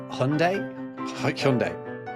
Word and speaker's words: Hyundai: And how do you actually pronounce Hyundai? Hyundai.